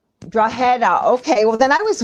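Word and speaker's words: Drogheda: good attempt at the pronunciation the G is is silent believe it or not so it's like a h it's draa draa okay well then I was way off I'm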